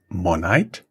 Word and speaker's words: Monite: Where is, you pronounce it Monite?